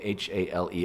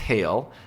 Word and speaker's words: hale: And Hale, by the way, H-A-L-E. It's not pronounced Hale.